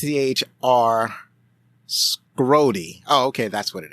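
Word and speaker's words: Schrody: before I started um his name is spelled s h r o d y so I'm thinking SE so that's like school so yeah that that's how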